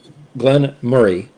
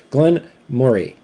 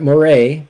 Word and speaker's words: Glen Moray: Glenn Murray, not Moray. Okay. Uh Glenn Murray. It's like you're saying the word Murray, but you just kind of put a little bit more Mo more into that.